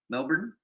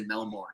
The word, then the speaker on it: Melbourne: Hey, Dante, we just kicked it with a guy who's from Melbourne.